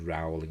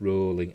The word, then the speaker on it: Rowling: I've heard people pronounce it as Rowling, and it's not. It's Rowling, as in bowling.